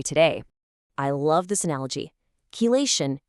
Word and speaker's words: chelation: So what in the world is chilation?